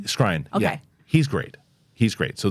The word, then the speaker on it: Skrein: Skrein.